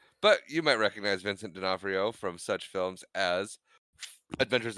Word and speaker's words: D'Onofrio: Anyway, next up on our list of starring actors, according to the Wikipedia, is Vincent D'Onofrio.